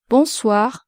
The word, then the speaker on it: bonsoir: Once again, be careful with the pronunciation of the nasal vowel on. The letter O plus the N is pronounced on and not on. So you have to say bonsoir.